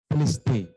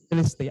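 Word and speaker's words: τετέλεσται: Pendeta Denny gitu ya, karena ternyata pengucapannya berbeda, tidak sesuai yang tertulis ya. Kalau tertulisnya adalah ditulis hai, ya, tapi ternyata bacanya adalah teliste.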